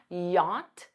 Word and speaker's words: yacht: Rich enough to afford a yacht notice that pronunciation yacht yacht you can use wethy Warren buffit is